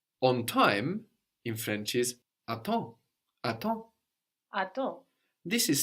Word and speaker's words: attends: The M on the end of the syllable there gets completely swallowed up. Attends. And the P and the S on the end there also completely disappear.